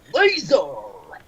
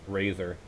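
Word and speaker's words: Lazer: Kamen Rider Laser! The fun fact is that another valid way you can pronounce his name is Kamen Rider Razor. L and R's are pretty much interchangeable in Japan.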